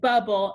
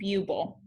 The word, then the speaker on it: bubble: We doubled the B so that it said bubble and not buble.